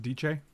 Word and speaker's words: Dece: It's pronounced DJ. Michael spelled Dece earlier, D-E-C.